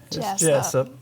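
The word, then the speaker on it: Jesup: Jessup. Jessup. You got to kind of get in there with it, you know? I think It's Jesus with a P.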